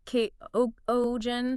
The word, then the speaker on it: Kuchen: Kind of softer, more like K Oen.